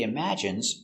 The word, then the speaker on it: imagine: He imagines traveling in space. Let's take a closer look at the pronunciation. Pronunciation. Imagine I mim a strong sound. Imagine I imagine. Imagine. Imagine. Stress on the second syllable.